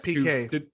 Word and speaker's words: Piquet: Nelson Piquet for those PK who didn't catch the story. He's a Brazilian F1 driver. Not spelled PK, it's spelled the French way, which is stupid. Yeah, I was thinking it was like Piquet or something weird like that.